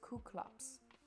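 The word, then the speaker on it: Κύκλωψ: three hundred for number nine it's gonna be kuklops you would think it's cyclops because that's what we really know it as but um it's pronounced as ku klux in ancient greek number 10 is reia 11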